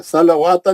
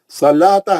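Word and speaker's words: الصلاة: ज़बर है, अकीमुस सलाता, सलाता वाव नहीं पढ़ेंगे, फिर लाम के बाद का वाव भी साकिन है, सलावाता नहीं हो, सलाता है, वाव साइलेंट है, नहीं पढ़ेंगे।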